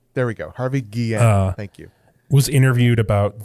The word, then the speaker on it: Guillén: I never pronounce his name right. There we go. Harvey Guillén.